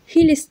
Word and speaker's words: Khlyst: Bu arada yazılışından daha kolaydır okunuşu, Hilis diye okunan bir tabiri var.